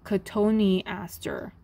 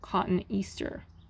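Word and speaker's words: Cotoneaster: useful so number one divide the word into syllables and assume that each vowel is its own syllable then you pronounce every syllable so katoni aster not cotton easter listen to what other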